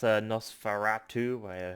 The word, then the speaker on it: Nosferatu: But yeah, that's Nosferatu, how you pronounce that.